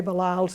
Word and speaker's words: Belials: Asaph Street, and he went up to each of the tellers and said, "I'm Jerry Belials, it rhymes with smiles," etc.